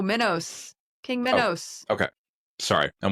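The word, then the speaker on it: Minos: king of Cree with Did you say Mentos? Like the fresh maker? No, Minnos.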